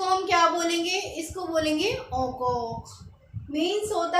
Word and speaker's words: encore: EN को हम ओ बोलते हैं और ENCORE ओकॉक मीन्स अगेन।